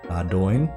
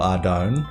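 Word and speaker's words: Ardougne: I'm sure that you guys have your own pronunciations for Ardoin. I go for Ardone, I think. Like Ardo, like dough as in, you know, yeasty goodness.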